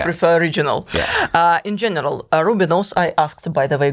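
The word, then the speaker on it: Rubinoos: of the band the rubinus the rubinus the ruos I tried to pronounce it several times correctly but now I made a mistake the Rubinos absolutely um and for a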